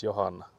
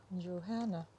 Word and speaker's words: Johanna: Because I think there's also like, for example, my mother's name is Johanna. So in English you would say like Johanna, Johanna. but in Yeah. Finnish you would say Johanna.